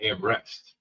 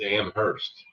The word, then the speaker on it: Amherst: Yeah, Amherst, not Amrest. It's Amhurst.